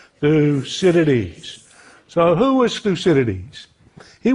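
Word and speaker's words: Thucydides: So the great thinker is Thusidities. Now I know his name is a mouthful and some people have trouble pronouncing it. So let's do it one two three together. Thusidities. One more time. Thusidities.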